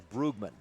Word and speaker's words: Brugman: a couple years ago asking how do you say brookeman he says brugman the coach tells me brugman so then I called for two years I called her brugman then last year I was at ICS I ran into her just kind of walking across the court I said hey Brookman Brookman right she goes no it's brugman that's like oh geez